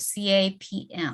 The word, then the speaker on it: CAP: cloud application programming modules c-a-p-m the ap it's it's it's actually if you write it down it's c-a-p-m right but then the m is silent oh that sounds so it's cap cloud application programming model